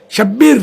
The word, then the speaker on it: شبیر: تو ہے نہیں، حسن، اور شبیر شبیر نہیں بلکہ اصل تلفظ ہے شبیر۔ تو یہ ہو سکتا